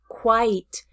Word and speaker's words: quite: The word quit has a small, loose lips, quit, quit, where the word quite, quite, has a very tall, open mouth, quit, quite. Quiet is a two-syllable word, quiet.